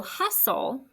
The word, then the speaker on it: hustle: that s-t-l-e soul right so hustle should look like this remember when you scoop it hus stays together it's closed h-u-s and then you put your t-l-e and i crossed off silent t silent e that's our consonant l